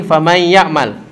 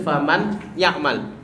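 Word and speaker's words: فَمَنْ يَعْمَلْ: Nih, kembali lagi famay ya'mal. Nah, ini famay ya'mal. Coba kita baca sama-sama. Tadi rasamnya atau afwan di lafaznya tertulis faman ya'mal. Bacanya bagaimana? Famay ya'mal. Famay seperti huruf ya.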